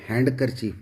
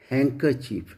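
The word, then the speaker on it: handkerchief: ये जनरली देखा है कि इसको गलत तरीके से इसका प्रोनाउंसिएशन किया जाता है, जैसे हम हैंडकरचीफ बोलते हैं जबकि ये हैंकरचीफ है।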